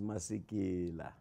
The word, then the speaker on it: Masekela: keller welcome back to nairobi okay the proper pronunciation is masikila masake nut cake nailed it yeah thank